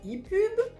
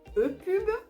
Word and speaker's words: EPUB: donc pub pour publication certains disent i pub e pub moi je prononce pub à l'anglaise à toi de choisir